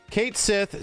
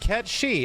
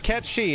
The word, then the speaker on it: Cait Sith: entire conversation was about looking at the name Kate Sith c-a-i-t-s-i-t-h and being presented with the argument for the last 20 years that people say that's not how you pronounce it it's pronounced cat she and it's like dude I can read that